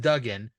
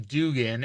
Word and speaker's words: Duggan: wrestling before mids South because it's like it's pronounced dougen but people call him Dugan and he gets mad that they mispronounce his